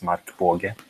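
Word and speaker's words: Markbåge: I kind of Americanized it since I moved here. The correct pronunciation is Markbage.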